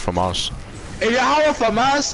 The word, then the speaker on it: FAMAS: You know what's a flama? Yeah. FAMAS. Yeah. It's FAMAS. Oh. The FAMAS, it's pronounced FAMAS.